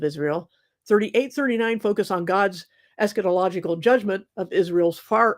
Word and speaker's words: eschatological: because some people say es catological they really lean on the cat syllable and and they'll say